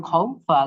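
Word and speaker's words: خوف: জের ফিল খাও ফিল কিন্তু অকফ করলে হয়ে যাবে খাওফ ফা ও সাকিন হয়ে যাবে এখানে বুঝছেন দুইটা সাকিন একসাথে আসলে এভাবেই উচ্চারণ করতে হয় ফ এর হালকা উচ্চারণ থাকবে ঠিক আছে যেমন খৌফ বাইন এরকম এখানে এমন হবে না খৌফি মানে একটা টানতে হবে না তাই না নাফ খউফ হালকা ফায়ের আবাস আসবে উচ্চারণে আচ্ছা খুফ আচ্ছা যদি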